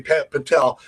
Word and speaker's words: Patel: That's how you pronounce the last name, right, Patty? Patel.